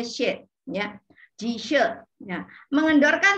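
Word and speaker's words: xue: She itu artinya darah ya, She, S-U-E tulisannya, tapi bacanya She, ya, Ji She.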